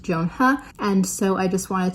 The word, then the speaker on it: Joan He: Then on May 5th, we have The Ones We're Meant to Find by Joan He. Hi, Editing Jocelyn here, just to say that I did not look up the pronunciation for the author's name before I filmed this, and for that I apologize.